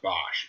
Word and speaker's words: Bosch: I heard that, is it Bosch? I think it's pronounced Bosch.